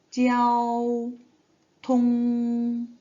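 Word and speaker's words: 交通: 발음을 할 때에는 찌아오, 통, 찌아오통 이렇게 발음이 나오겠죠.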